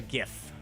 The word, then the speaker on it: GIF: Yeah, I'm a GIF guy, not a GIF. I like GIF, like the peanut butter. It's a soft G.